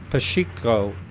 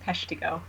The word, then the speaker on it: Peshtigo: and that was the pacheco the Chicot fire the fire Oh Peshtigo fire how do you pronounce that I'm sorry I would just read it yeah absolutely fine Peshtigo has sheikah fire yeah so no one not really